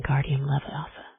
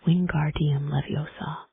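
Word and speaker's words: Wingardium Leviosa: You're saying it wrong, says Hermione in an impatient voice. It's Wing Guardium Leviosa. You emphasize the gar.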